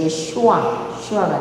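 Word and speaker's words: ישוע: 쉰의 몸이 이쪽에 정이 붙으면 쉰밥할 때 쉰이 되고 이쪽에 붙으면 제할 때 신이 돼버려요. 그래서 예수님 할 때는 이 몸 꼭대기 이쪽에 점이 붙어서 이 발음에서 예슈아가 돼요.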